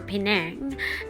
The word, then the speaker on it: Penang: Wow this is Penang or Penang as what the locals say it known for food